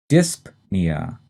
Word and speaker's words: dyspnea: the next term is dyspnea and like apnea the stress is in the first syllable and we say that p dyspnea and based on its